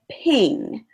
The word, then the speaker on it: Pingg: There's lots of great options for using these electronic invitations, but some quality options include Evite, Eventbrite, Paperless Post, and Ping. But Ping is spelled with two G's, so Pingg.